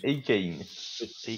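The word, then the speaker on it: Achane: C'est Akan, ça se prononce? Akane.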